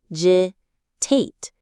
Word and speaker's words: cogitate: Stress on the first syllable. C. Citate.